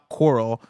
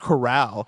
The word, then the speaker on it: Corral: the the name outlaw coral, like the word coral as in the ocean organisms, coral reefs. The word should be pronounced corral Yeah. As in the country style containment makes sense.